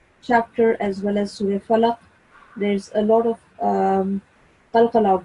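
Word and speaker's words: الفلق: You're supposed to make a jerking sound on qaf, falaq.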